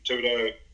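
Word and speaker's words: Thibaudeau: Christian Tudo, that's how you pronounce it, neurotyping stuff.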